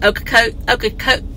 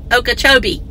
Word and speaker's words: Okeechobee: He's in Okochot. I mean, in my mind, I say it right, but when I go out to say it, I don't say it right. Okeechobee.